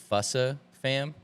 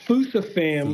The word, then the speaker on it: Fusa Fam: And, I would say you mentioned, because if anybody doesn't know, you go by, do you pronounce it Fussa fam? Okay, so it's Fusa Fam Fusa.